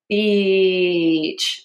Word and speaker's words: beach: If you don't say it long enough, it sounds like And that is something that is unkind to call a woman. Um, and so beach.